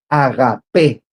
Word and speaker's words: agapé: viene del griego agapé agapé viene con el acento en la e agapé que básicamente este amor